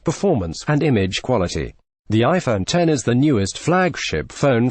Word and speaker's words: iPhone X: MSRP of 999 dollars the iPhone 10 pronounced iPhone 10 which shall admit him